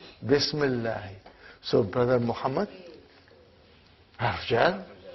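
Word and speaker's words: بسم الله: Okay, now see, the hamza of ism is hamzatul wasal. If it comes in the beginning of the sentence, we will pronounce it like ismul waladi. But it did not come in the beginning, something else came in the front, then that hamzatul wasal will not be pronounced.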